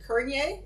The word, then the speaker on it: Courneya: own family and it's in Ontario we pronounce it kernier I spell it c-o-u-r-n-e-y-a